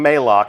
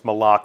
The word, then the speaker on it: Malok: is malok malok Right official pronunciation confirmed so if you hear anybody saying Mao send them right here to the archive of this stream our design leaders told us it's malok we actually have a